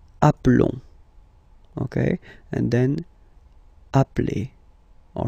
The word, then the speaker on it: appelons: Nous appelons. And then little link would be perfect, so let's pronounce the whole thing again. Nous nous appelons. Nous nous appelons. Okay, final S doesn't exist.